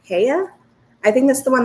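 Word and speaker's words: Heye: the brand it's h-e-y-e it's a german brand so i think you pronounce it heya i think that's the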